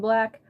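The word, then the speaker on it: 6lack: the one and only six like I mean black I said it wrong on purpose I remember I used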